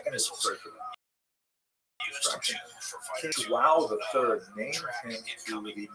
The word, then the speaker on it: João: And he rose up in the ranks until finally King John III, who actually, I'm going to pronounce it, João III, and to give thanks